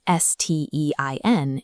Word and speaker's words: Stein: If it's paired with a T, they make a sht sound. This is why the word for stone, S-T-E-I-N, is pronounced stein, and the word for play, S-P-I-E-L, is spiel.